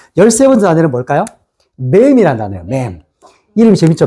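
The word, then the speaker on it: מם: 맨.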